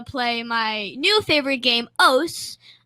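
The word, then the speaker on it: osu!: See, whenever I get a chance to play my new favorite game, OS, I think it should be pronounced Osu because it's like OSU, Osu, but they call it OS, and there is OS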